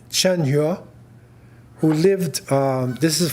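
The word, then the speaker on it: Zheng He: Admiral named chenu now they spell it with a zed or Z but the pronunciation chenu who lived um this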